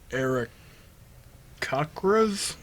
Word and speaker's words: Aarakocra: Then half-elf person was like, yo, I've been studying these Aarakocras? I say Kokra. Kokras? Aarakocra, that's how you pronounce it? Yeah. Eric Okra.